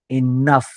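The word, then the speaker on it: enough: फ असाच केला जातो ओ यू जी H cuff इनफ या पद्धतीने ओके त्याच प्रकारे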